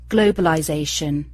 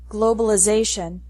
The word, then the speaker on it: globalization: noun form globalization and American English changes the sound of the letter I globalization finally the t's